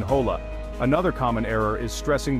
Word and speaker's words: hola: Remember, H's in Spanish are always silent, like in hola.